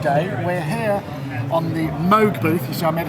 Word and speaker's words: Moog: We're here on the Moog booth.